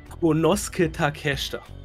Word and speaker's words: Konosuke Takeshita: Konosuke Takeshita. Oh. Ja. Ich muss nicht sagen, wie er geschrieben wird, aber genauso wird er ausgesprochen.